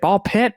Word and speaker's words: BALL x PIT: But, um, so the games nominated for best independent game are Absolut Ball X Pit, Ball Pit. I never know you pronounce the X. You don't pronounce the X.